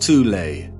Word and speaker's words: Thule: called the thol society sometimes alternatively pronounced tulay that had sub-factions within